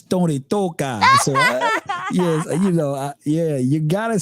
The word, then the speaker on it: Tony Touch: It's Tony Toka. So yes, yeah, you gotta say it like that, or else you didn't say his name. You say Tony Touch.